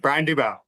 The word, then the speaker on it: Dubow: Brian Dubow.